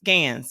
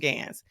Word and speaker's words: GANs: technologies such as GPT-3, Codex, DALL-E 2, and GANs. I said GANs totally wrong. Let me say it again. Codex, DALL-E 2, and GANs.